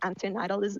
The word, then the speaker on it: antinatalism: Like antinatalism. I don't know. I cannot pronounce it. Anti-natalism is how it's commonly pronounced, but I'll go ahead and start, I suppose.